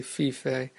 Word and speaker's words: Fiffe: is created by Michelle fief and that's Fi FF II and I'm pretty sure that's the correct pronunciation even though I've heard other people say fifi but this was a